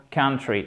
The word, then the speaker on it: country: Le O là, il se prononce exactement comme le même son ici pour country, entre le A et le E.